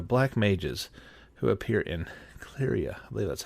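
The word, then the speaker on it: Cleyra: favorite were the black Mages who appear in claria I believe that's how you say it claria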